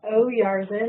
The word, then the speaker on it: Oyarzun: I'm Oyarzun. It's easier if you put a little apostrophe in your mind after the O to pronounce, so then it sounds just like it's spelled.